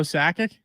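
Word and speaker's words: Sakic: Behind my name is Joe Sackic.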